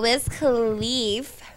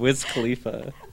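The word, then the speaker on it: Wiz Khalifa: I'm just saying no so whiz khif was allegedly did I say that wrong Whiz Khalifa oh pronoun Jed can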